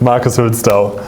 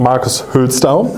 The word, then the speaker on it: Hülsdau: Welcome, Marcus Hülsdau. Is that the right pronunciation? Yes, it is correct. Marcus Hülsdau.